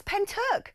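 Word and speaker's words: Pentyrch: Alex, we pronounce Pent in Wales as Penturk, says David, my good mate in South Wales.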